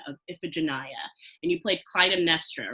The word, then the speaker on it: Clytemnestra: 2017 fall production of iphigenia and you played clytemnestra right am i pronouncing that correctly oh yeah you are totally